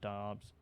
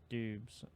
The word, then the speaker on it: Doubs: with Christian Watson and Romeo Doubs, or Dubes, or I don't really even know how to pronounce it. I think it's Dobbs.